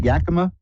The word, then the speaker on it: Yakima: with Reverend Elliot hi Elliot hi did I pronounce that right Yakama yeah because I know that the great stunt